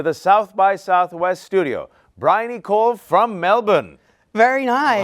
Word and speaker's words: Bryony: Please welcome to the South by Southwest studio, Bryony from Melbourne. Very nice. How was my pronunciation?